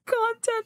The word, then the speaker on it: content: Oh, my God, I just read that as “content!” [Content Pronounced /ˈkäntent/] I was going to say, “you don’t have to imagine it at all, you’re looking at it right here...” But you meant... “One must imagine Sisyphus content.”